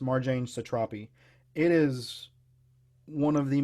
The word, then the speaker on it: Marjane Satrapi: book it's by Marjane I think her name is pronounced Marjane Satrapi it is one of